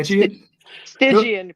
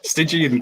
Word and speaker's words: Stygian: the band you just told me how to pronounce it correctly as well and it's evaporated already San stigan Crown stigan Crown oh man man oh well uh work